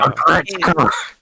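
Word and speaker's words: Aggretsuko: Aregretsuko. Agretzko. Aregretsuko. Agretzko. Agretzko. It's Agretzko. Agretzko. Yeah. Okay, if you want to say it like that, yes.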